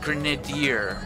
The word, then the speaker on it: Grenadier: health pack your navier-- is usually pronounced grenade year at least the times I've heard it okay I've probably been saying it wrong I'll be on a